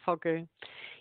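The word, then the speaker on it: fogou: Um, you do describe something which fascinates me, and I'm going to pronounce it wrong. A fogu? A fogu. Yeah, fogu.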